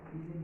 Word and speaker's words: Ising: The pronunciation is Ising model, and some sort of observations, questions, and techniques.